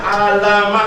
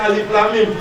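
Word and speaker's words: الم: Enggak dibaca alama. Enggak, tapi dibacanya alif lam mim.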